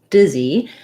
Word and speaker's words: dizzy: disease and dizzy so disease and dizzy have the same first sounds but disease has second syllable stress and dizzy has first syllable stress so you'll see um